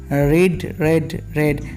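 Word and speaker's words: read: ভার্বের third form রেড, স্পেলিংটা এক হতে পারে বাট প্রোনাউন্সিয়েশনটা আলাদা, রেড, তাই এখানে বিনের পরে স্পেলিং একই বসলেও উচ্চারণটি হবে রেড।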